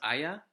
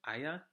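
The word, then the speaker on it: Aja: it should be pronounced Aya. That's how a German would pronounce it, Aya.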